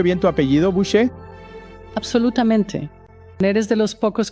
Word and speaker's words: Boucher: pronuncio bien tu apellido, Bouchet.